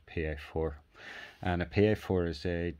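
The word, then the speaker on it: piedfort: f o r t it's pronounced in england or the uk padfoot by most people but it is in fact the french word and it's pronounced pa4 and a pa4 is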